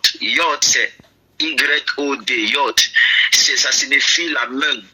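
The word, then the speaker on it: יוד: Y est Yod. Yod c'est Y-O-D, Yod.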